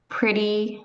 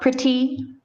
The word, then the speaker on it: pretty: And pretty is not pretty. You don't pronounce the T.